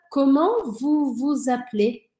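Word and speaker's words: Comment vous vous appelez ?: E aí eu passo a ouvir esse S, que em geral não é pronunciado. Então fica: comment vous vous appelez?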